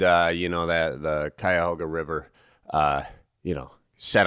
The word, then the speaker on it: Cuyahoga: um in Cleveland uh you know that the Cuyahoga River uh you know set on fire that's